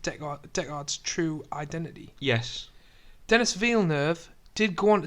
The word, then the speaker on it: Villeneuve: I'm pronouncing Villeneuve wrong. I think it's Denis Villeneuve. Villeneuve. Yes, or Villeneuve.